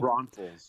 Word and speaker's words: Braunfels: Braunfels.